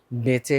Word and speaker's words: বেঁচে: হ্যাঁ পরের শব্দটা হচ্ছে বাঁচে এটাকে আমরা বেঁচে বলি বেঁচে বেঁচে উচ্চারণ হবে আনুনাসিক এরপরে হচ্ছে করিছো করেছো